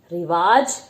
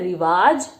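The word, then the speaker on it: रिवाज़: जो है रिवाज रिवाज कई लोग बोलते हैं रिवाज लेकिन यह रिवाज होता है अगर आप ध्यान से देखेंगे तो ज के नीचे जो छोटी सी बिंदी लगाई गई है यह इसके उच्चारण को बदल देता है हमने जब वर्णमाला करी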